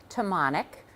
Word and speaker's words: Tomanek: My name is Tammonic. It rhymes with harmonic.